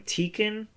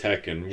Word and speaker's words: Tekken: and we were playing tiken when we were waiting for our she mispronounced Tekken wow she couldn't say Tekken she called it tiken I mean it's just